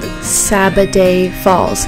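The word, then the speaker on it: Sabbaday Falls: That place was called Sabaday Falls, if I'm pronouncing it right. S-A-B-B-A-D-A-Y. Sabaday.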